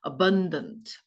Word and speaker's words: abundant: abundant abundant 발음 보세요. abundant ab 뜻이 뭐예요? 풍부한 근데 abandon 하면 버려지는 abandon 그건 abandon이 보면 근데 이건 abundant abundant abundant abundant 풍부한 식량을 생산해 낼 수도 있다.